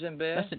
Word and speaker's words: djembe: Am I pronouncing that right? Djembe? Yes, it's djembe.